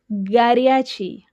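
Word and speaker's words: горячий: Here you should also pay attention to the stress in the word "goryachi". Say "goryachi".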